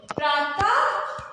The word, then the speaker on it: प्रातः: विसर्ग का जब भी हम लोग उच्चारण करते हैं तो उसमें हमें एक हा छिपा हुआ मिलता है। तो जब भी हम लोग विसर्ग का उच्चारण करेंगे, साथ में हा बोलेंगे, प्रातः और प्रायः।